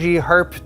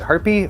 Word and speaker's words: Harpe: we have the ROG Harpe 2 Extreme. I'm not sure if you're supposed to pronounce the E. Is it Harpe or Harp? Yeah, Harpe. Perhaps just want to roll the R a little bit.